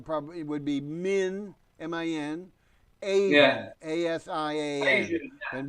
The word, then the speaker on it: Minasian: And then the last name is Minasian. And that's Minasian. Minasian. Now, if you wanted to read it like you were reading it, even though it's not the proper, it would be Min, M-I-N, Asian, Yeah.